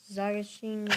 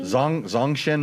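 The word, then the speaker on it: Zongshen: Uh the NC450 Zagasheen motor. Hey, you're you pronounce it as good as I could. Say it again. Zagasheen. Zong Zong Shen Motor.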